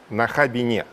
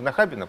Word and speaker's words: Нахабине: Нахабине. А, кстати, не в Нахабино, правильно говорить? Ну вот по нынешним нормам почему-то опять стало модно говорить во Внукове, в Нахабине, в Зюзине и так далее.